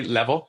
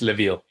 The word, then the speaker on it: Levil: Like a lot of people just say level because like in Spanish is Levil.